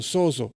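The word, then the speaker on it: σῴζω: Y la tengo aquí atrás como se dice en griego, como se escribe en griego, sozo, S-O-Z-O.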